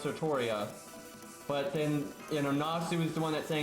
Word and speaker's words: Altria: say it that way like any time it's pronounced it's always pronounced sartoria but then you know nasu was the one that's saying it's supposed to be spelled altria but it's not said